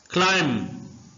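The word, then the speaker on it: climb: लेना कन्फेस कहलाता है क्लाइम क्लाइम का मतलब होता है चढ़ना इस वर्ड में बी साइलेंट है इसको क्लाइम नहीं पढ़ेंगे क्लाइम पढ़ेंगे एम की आवाज एंड पर आएगी इसके ऊपर मैं डिटेल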